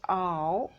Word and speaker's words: hour: o is vowel sound h is silent here we are not pronouncing this h sound this is silent but